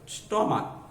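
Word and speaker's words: stomach: কেন করতে হবে, এই সিএসটা আসলে কয়ের মতো উচ্চারিত, যেমন স্টমাক, শুধু সিআইস আছে কিন্তু উচ্চারণ হচ্ছে কয়ের মতো, স্টমাক, স্টমাক শুধু এর যোগ করে প্লুরাল করতে হবে।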